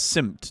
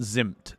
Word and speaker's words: simp: have another chance here it's pronounced as simp not zimp simped why not move